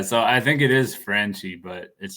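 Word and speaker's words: Franchy: It says when you look at it, it looks like Franchi Cordero, but I think everybody calls him Frenchy Cordero.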